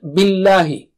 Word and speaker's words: billahi: Let's take the next word, billahi. Don't make the lam thick here. Don't say billahi. No. Just the normal lam.